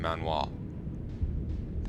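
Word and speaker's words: manhwa: that's what it's called it was a korean manoa that's how you pronounce it i think like manga but korean so yeah the pirates are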